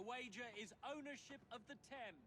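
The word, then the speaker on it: Thames: The wager is ownership of the Tem. Of the Tem, that's how it's pronounced.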